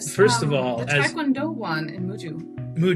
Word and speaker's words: Muju: First of all one in Muju. Muju not Mushu.